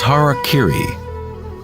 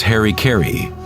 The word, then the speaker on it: harakiri: In the samurai tradition, one form of ritual suicide, or seppuku, was harakiri, was often mispronounced as harikiri.